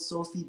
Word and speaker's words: Sphy: Yeah, I dropped a range called Sophie, but it's spelled Sphy, which is Okay, okay.